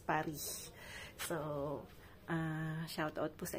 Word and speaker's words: Paris: Yan, sa French po, laging hindi pinopronounce yung S, Paris.